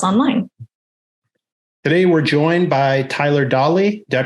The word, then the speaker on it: Tyler Dawley: Today, we're joined by Tyler Dawley. Did I pronounce that right, Tyler?